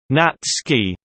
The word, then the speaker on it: NatScis: Undergraduates who are reading for the NST in order to gain their degrees are colloquially known in university slang as natchis, pronounced natsky, s being broadly nicknamed physical science phys or biological science bio natchis, according to their course choices.